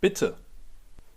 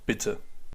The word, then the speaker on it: bitte: If you want to respond to that, you can say bitter.